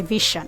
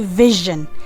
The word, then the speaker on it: vision: I had a vision. No, it's supposed to be vision.